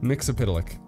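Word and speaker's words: Mxyzptlk: Mixy as Pitalic. Yeah. That's how you pronounce it. Mix-a-Pitalix. There we go.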